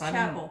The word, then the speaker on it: Campbell: Chappelle says, did I say his name wrong? I call him Chappelle. It's Campbell.